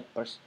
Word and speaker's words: Peirce: Kita masuk di era modern yang dimana dua tokoh ini ya, Ferdinand de Saussure sama Charles Sanders Peirce, tulisannya Pierce tapi bacanya Peirce.